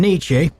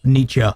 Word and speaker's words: Nietzsche: The E is not pronounced in Nietzsche.